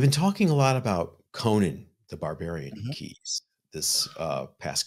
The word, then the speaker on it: Conan: And by the way, I keep saying Conan because of Conan O'Brien. It's Conan the Barbarian. Remember how we always used to mispronounce Conan's name as Conan O'Brien until we learned that it was Conan?